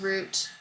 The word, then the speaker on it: route: the driver was following it's pronounced root it shows that the